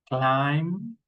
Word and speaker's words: climb: For example, I say bomb, climb, come, cram, dead. Listen to me, dead, doubt. Listen to me, I'm not pronouncing the letter B.